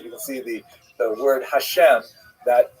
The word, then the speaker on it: Hashem: And the word Hashem, of course, is pronounced with the letter H, but there is no letter H in the Russian alphabet. So in order to indicate that it should be pronounced as an H, they took the letter